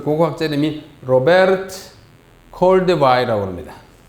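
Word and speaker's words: Robert: 그 고고학자 이름이 로베르트 콜데바이라고 합니다. 로베르트 콜데바이라고 읽어요. 이게 미국 사람이나 영국 사람 같으면 로버트 이렇게인데 독일 사람이니까 로베르트 이렇게 읽습니다.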